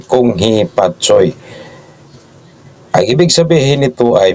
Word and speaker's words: Kung Hei Fat Choi: Ang tamang bigkas ay Kung Hee Pat Soy.